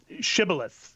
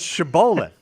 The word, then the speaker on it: shibboleth: Shibboleth is the technical term for it. That's not how you pronounce that. It's shibboleth.